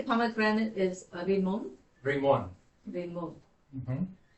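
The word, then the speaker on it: רימון: Did you say pomegranate is rimon? Bring one. Rimon. Mm-hmm. Is the accent on the on? Mm-hmm.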